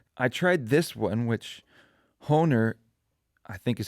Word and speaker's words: Hohner: I tried this one, which Hohner, I think is how you pronounce it, Hohner Blues Bender harmonica, which seemed reasonably well reviewed.